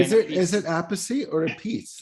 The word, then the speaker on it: Appice: So he got tired of that and he goes, a piece, that's it. No apice, a piece.